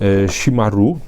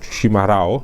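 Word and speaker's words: chimarrão: naczynie do picia właśnie shimaru, shimarao, shimarą, nie potrafię tego dobrze wymówić. Generalnie jest tam, pisze się himarao przez CH, przy czym podobno to R wymawia się przez takie gardłowe H, takie chrząknięcie i chyba powinno być shimaru, czy shimaro jakoś.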